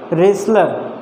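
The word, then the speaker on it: wrestler: होती है तो वर्क और इसमें दो लेटर साइलेंट है डब साइलेंट है और टीवी साइलेंट है रेसलर मिस पहलवान फसल जानते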